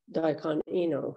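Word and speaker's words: Daikan Enō: And in Japanese, his name is pronounced Daikon Ino, who is the 6th patriarch of Zen.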